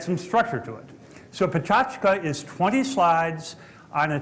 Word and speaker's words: Pecha Kucha: as you see in the program uh but pronounced pachka it's a Japanese term for a presentation format